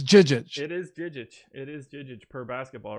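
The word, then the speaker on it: Žižić: You refuse to pronounce the Z's as J's. My apologies. Yeah, again, it's not Naruto, man. Phenomenal scene from an excellent movie. Are we positive they're J's? It's Jijic.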